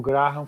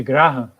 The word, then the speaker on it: Graham: Eu chamo de Graham, porque grande parte das pessoas chama de Graham, mas algumas pessoas chamam corretamente de Graham. De fato, a pronúncia correta é Graham.